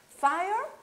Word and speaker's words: fire: Fire pode ser, então, incêndio ou fogo, tanto faz.